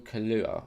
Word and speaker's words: Kaluuya: is so you've got Daniel kanuha I think you say his name he was in get